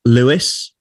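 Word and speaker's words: Lewes: pub in the uk there's a town called louis um and so it's spelt l-e-w-e-s and it's south of london it's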